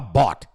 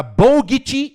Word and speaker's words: bought: Pelo amor de Deus, como não sabe falar bought? Sabe por que as pessoas não sabem falar bought? Porque não conseguem olhar para Bogut e falar bought.